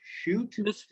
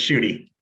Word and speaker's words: Shute: Calling on Shute. Ms. President, Did I pronounce that okay or not? Close, it's Shooty.